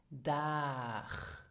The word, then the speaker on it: Dag: This is pronounced dag. Dag. So here you have the ag sound.